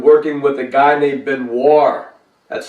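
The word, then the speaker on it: Benoir: he had been working with a guy named Ben War that's spelled b-e-n-o-i-r and he is a guitarist and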